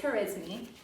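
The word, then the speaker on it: al-Khwarizmi: a 'muslim mathematician an engines name it's not pronounced charisma it is her is me but he is the founder of algorithms and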